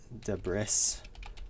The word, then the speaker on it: debris: See, edit uh fix debris layering. Debris is a weird word because it has a silent s in it.